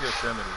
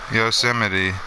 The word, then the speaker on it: Yosemite: How do you spell it? Y-O-S-M-I-T-E? That's Yosemite. Yosemite.